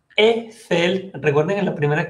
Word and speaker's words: Eiffel: EI se pronuncia E como la tour Eiffel.